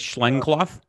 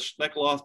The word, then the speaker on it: Schneckloth: Is it Schneckloth? Schneckloth. Schneckloth. I could never get that right. I think it's Schneckloth. Schneckloth y Bustamante. And so what those two cases deal with, Schneckloth talks about it's the totality of the circumstances for consent.